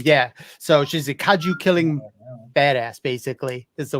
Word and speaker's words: kaiju: you guys call him kaiji kaiji haiji hi kaiju yeah so she's a kaju killing badass basically that's the way i kind of pronounce it i actually just did a review